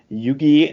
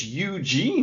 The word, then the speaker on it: Yuji: am great at names, Yugi Nagata with Sonny Ono versus Ultimo Dragon. It's Yuji Nagata. You're pretty close. You know, I don't know where you got a hard G sound from a J, but whatever.